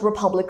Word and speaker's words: republic: For instance, the People's Republic of India. So pales, it's republic. A republic. The word republic is a two-syllable abstract noun with a stress on the second syllable.